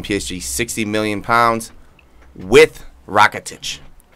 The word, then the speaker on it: Rakitic: this could be the one of the biggest transfers of the season, with Barcelona giving PSG 60 million pounds with Rakitic. Rakati.